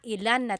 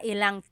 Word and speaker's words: ilang: Instead of mga ilan na tao ang darating, it's mga ilang tao ang darating. About how many people are coming. So that's just a pronunciation tip. Make that contraction to make it flow a little bit better.